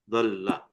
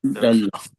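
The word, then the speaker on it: دَلَّ: So how do we pronounce this? Dalla. Dalla. Two lams. You can hear two lams because of this Tashdeed here.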